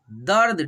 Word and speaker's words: दर्द: तीर्थ, दर्द, ठीक है, द पे देखिए रेफ की मात्रा है लेकिन हम लोग र के उच्चारण करेंगे सबसे पहले, ठीक है, लेकिन आधा ही उच्चारण करेंगे र को, लेकिन पहले र को उच्चारण करेंगे तब द को उच्चारण करेंगे।